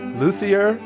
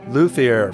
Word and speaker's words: Luthier: In this episode, we're going to talk about a new Kickstarter game, Luthier from Paverson Games, or Luthier. Luthier, I believe that's closer to the correct pronunciation. En français.